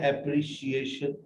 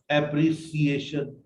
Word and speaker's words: appreciation: बट जब आप एप्रिसिएशन बोलते हैं तो वाहे आप इसको चेंज कर देते हैं एप्री, not, जबकि ये है एप्रिशिएशन, नॉट एप्रिसिएशन। नो सा साउंड इज देयर, शा साउंड इज देयर, एप्रिशिएशन।